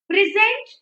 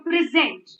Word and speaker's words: present: a verb it changes they are same words but they are pronounced differently so we just have